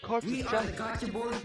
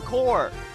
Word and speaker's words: Corps: We are the Gacha Force Corps of Justice. Known as Gacha Force. Known as Gacha Force. Fuck. I don't know why they pronounce the P in core.